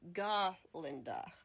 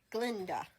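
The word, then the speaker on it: Galinda: a little confusing but her actual name is G Linda um there is a scene in the musical and the movie where Dr Dy Mounds who is a goat cannot pronounce her name correctly and keep saying Glenda um and he explains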